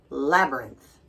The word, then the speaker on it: labyrinth: If you're an American, we pronounce it labyrinth.